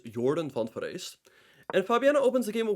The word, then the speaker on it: Jorden van Foreest: good friend Jordan yes that's how you actually pronounce it it's not Jordan van Forest it's Jordan font verse and Fabiana opens the game with his bread